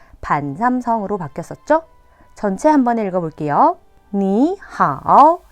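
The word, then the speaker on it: 你好: 삼성 더하기 삼성일 경우에 앞에 있는 삼성이 이성으로 바뀝니다. 삼성 뒤에 1, 2, 4 경성이 오면은 앞에 있는 삼성이 반삼성으로 바뀌었었죠? 전체 한번 읽어볼게요. 你好, 老师, 시작.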